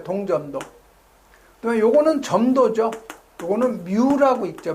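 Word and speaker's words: μ: 요거는 뮤라고 있죠. 뮤. 점도. 그다음에 요거는 뭐라고 읽어요?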